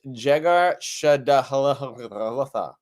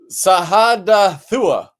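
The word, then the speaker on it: Jegar-sahadutha: Laban called it Jegar Shadahalatha, and Jacob called it Gilead. I like Jacob's version because it's much easier to pronounce and read. How do you say the other one? Sahadathua.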